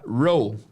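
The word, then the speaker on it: role: Então, quando vocês encontrarem e no final de palavras em inglês, geralmente esse e é mudo. Mudo, tá? Não pronunciarão. Então, será row, papel.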